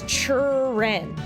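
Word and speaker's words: Cheren: Is it Sharon? Is it Charon? Is it Karen? Is it Karen? I don't know. Apparently it's Churen, like cherry.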